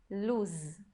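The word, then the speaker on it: לוז: Luz, tem um zain, então a gente tem que pronunciar. Não pode falar como a palavra luz em português, que a gente escreve com Z, mas pronuncia como se fosse um S. Aqui é Luz.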